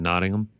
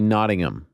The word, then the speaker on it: Nottingham: what are we saying nodding them it's supposed to be nodding them like you don't you don't pronounce the h we got a lot